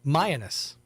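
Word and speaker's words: Mianus: Um and it's pronounced um Mayanus.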